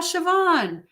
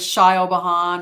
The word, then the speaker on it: Siobhan: I'm sure you get a lot of weird pronounced things they probably like shy all behind or Scio CEO or whatever James is a closer exactly so for Connie happy happy number 26.